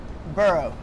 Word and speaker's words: borough: You are not going to pronounce the G or the H. Rather, it is silent. It's almost making a W sound. Okay. But can you say it very slowly for us to understand? Okay. Borough. It's a bit like burrito.